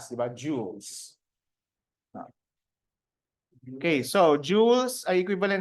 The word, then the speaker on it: joules: Alam niyo ba okay ang tamang pronunciation diyan ay joules parang mga alahas ' ba joules Okay so joules a